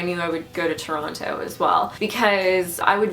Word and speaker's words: Toronto: I now live in Toronto and you can tell I didn't grow up in Toronto by the way I pronounce it because anyone who lives in Toronto doesn't call it Toronto they call it Toronto